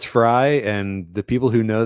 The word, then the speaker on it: Frey: Either way, I've known people that with their last name Frey and it's Fry, but who knows? I've known people where it's probably Frey. Who knows? If it turns out it's Fry, and the people who